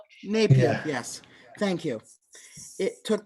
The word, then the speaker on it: Napier: um 17th century by a guy named John Napier or John Neer I forget how to pronounce his name I'm sorry if I butchered that he took 20 years to calculate it by hand I think it's Napier Scottish fell Napier yes thank you it